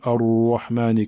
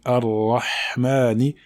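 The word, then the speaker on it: الرحمن: Donc bien mettre en évidence la lettre Ha et ne pas la confondre avec la lettre Ha. Donc Ar-Rahmani et non pas Ar-Rahmani. Donc il faut bien prononcer la lettre Ha. Et il ne faut pas également l'avaler. On ne dit pas Ar-Rahmani, Ar-Rahmani, Ar-Rahmani. Il faut bien la prononcer en laissant l'air passer, car le Ha est une lettre dans laquelle l'air passe. Ar-Rahmani.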